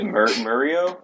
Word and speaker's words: Mario: spoke a little bit about the new Mario Galaxy. You say Mario? Mario. Yeah. I hate that. I hate that pronunciation.